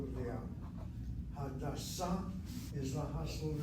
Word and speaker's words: Hadassah: Again, the hospital name, hit the last syllable, Hadassah, Hadassah.